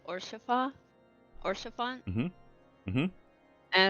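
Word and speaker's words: Haurchefant: not one to stand on formality all right house fart no good to meet you Mr horse fart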